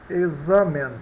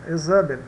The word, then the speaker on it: examen: O X tem o som de X, X, né? Entre vogais, examen, examen, entre o E e o A, duas vogais, examen, examen, revisão, tá?